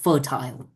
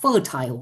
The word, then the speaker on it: fertile: ว่า ทั้ง ๆ ที่ ภูมิภาค เนี้ย โคตร จะ fertile นะ ครับ คำ เนี้ย นะ ครับ ออก เสียง ได้ 2 แบบ นะ ครับ fertile หรือ fertile ก็ ได้ นะ ครับ fertile fertile